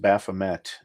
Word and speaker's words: Baphomet: I know, as I'm a Satanist, and Satanists will say, "Oh, it's pronounced Baphomet," and because that's how it's really supposed to be pronounced. Gotcha. That's the formal answer. But I still say Baphomet, and I still say Baphomet because they say